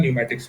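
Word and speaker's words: pneumatics: और एक होता है न्यूमेटिक्स, पी साइलेंट है इसमें, न्यूमेटिक्स मतलब गैशियस, गैशियस।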